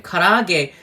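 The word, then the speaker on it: 唐揚げ: Karage, K-A-R-A-A-G-E is how we would say it, spell it in English.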